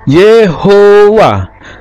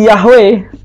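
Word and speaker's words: יהוה: cara menulisikutnya masora ini cara membacanya kemungkinan variannya adalah yehowa yehua yiwa ye hewa yawa tapi tidak mungkin yahwe ya tidak mungkin dibacanya yahwe nah ini Alasan saya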